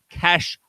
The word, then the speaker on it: cache: there read GC calm it tells you how to say it and it says cache like money they are Americans and